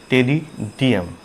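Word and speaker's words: Pteridium: इसके एग्जाम्पल है फर्न्स, जिसको हम टेडियम भी कहते हैं, शॉर्ट में लिख देते हैं टेरिडियम। यहाँ पर पी हमेशा साइलेंट रहता है, राइट।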